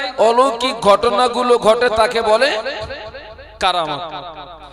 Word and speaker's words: কারামাত: ঘটনাগুলো ঘটে তাকে বলে কারামাত। আমার দিকে তাকান, কি বলে বাবা? কারামাত। যেটা আমরা অনেকে আবার বলে ফেলি কেরামতি, কিন্তু ওর মূল উচ্চারণ হচ্ছে কারামাত।